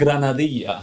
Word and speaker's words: granadilla: How would you pronounce that? Grenadilla, or if it's Grenadilla. Spanish, granadilla.